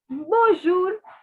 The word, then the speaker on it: bonjour: different color pen and please write that the n is not to be pronounced it is a nasal sound it is not to